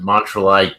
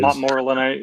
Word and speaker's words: Montmorillonite: So, the idea that you get, I never know how to pronounce it, Montrealite clay, whatever that clay is. Montmorillonite, yeah.